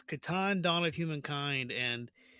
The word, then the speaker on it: Catan: Okay, well, I'm originally from the north of England, so we pronounce the slightly harder. So we would say Catan rather than Catan. My wife's from the south of England, so she might say Catan.